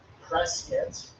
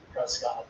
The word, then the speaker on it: Prescott: Skull Valley was important because of this line right here going out to Prescott, as the locals say it, Prescott, if you're from out of town, and then off to Phoenix, I believe.